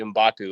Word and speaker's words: Mgbako: I heard Mark Lieberman say Mgbako, and I trust what he says for whatever reason.